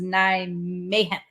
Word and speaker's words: Nijmegen: So Nijmegen. Nijmegen. Because this is a G in real life.